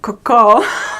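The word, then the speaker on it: cocô: There's coco, which is coconut, and coco, which is poop. So if you put the accent on the wrong part of the word, then you get some pretty strange looks. Like, did you mean coconut or did you actually mean poop?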